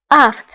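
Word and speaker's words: aphte: aft فهنا PH. فهنا PH كنطقوها ب F. aft.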